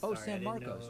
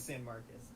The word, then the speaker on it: San Marcos: ] it sounds clear San Marcos okay very good yeah sorry I'm super white so I always pronounce it San Marcus um no so my